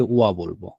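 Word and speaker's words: は: আমি, আমরা জানি, তাহলে ওয়াতাসির পরে যদি হাটা আসে আমরা অটোমেটিক্যালি এটাকে ওয়া বলবো। এভাবে যখন আমরা আস্তে আস্তে বিভিন্ন শব্দ শিখব, ঠিক আছে, বিভিন্ন অর্থ শিখব, তখন আমরা অটোমেটিক্যালি বুঝে যাব যে এটার উচ্চারণটা হা হবে না, এটার উচ্চারণটা ওয়া হবে।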